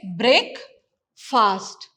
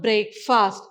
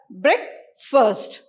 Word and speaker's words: breakfast: fast he'll break this you'll say break fast it is not break fast it's breakfast but how do you pronounce it you pronounce it as brick first and the next one